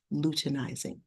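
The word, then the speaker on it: luteinizing: hormone follicle stimulating hormone lutenizing hormone this is pronounced lutenizing um you should start to um recognize some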